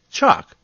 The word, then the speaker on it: chalk: The same goes for talk and chalk.